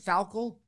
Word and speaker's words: Falkel: My gosh, and then Mick Falkel, is that Falkel?